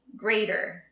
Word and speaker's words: grater: this is a grater notice we don't say the T like a t it sounds more like a d greater I use this for